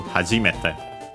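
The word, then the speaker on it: 初めて: Accent on the G, so be careful, hajimete.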